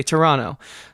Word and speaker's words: Toronto: family who emigrates to Toronto Canada or as the locals say Toronto trust me I'm cultured